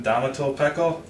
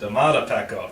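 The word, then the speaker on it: Domata Peko: How do you pronounce it, Jonathan? Damato Pecco? Is that correct? Damata Pecco.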